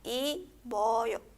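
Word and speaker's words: 입어요: Abajo tenemos otro ejemplo. Primera sílaba tenemos ip, segunda sílaba vocal O y tercera sílaba yo, ¿sí? Vocal yo. Entonces, primera sílaba ip, ¿verdad? Tenemos a piup como consonante final, se une a la vocal y quedaría como i boyo, ¿sí?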